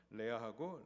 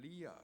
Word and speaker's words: 레아: 레아하고 라헬이었습니다. 영어 발음으로 하면 리아 그리고 레이첼.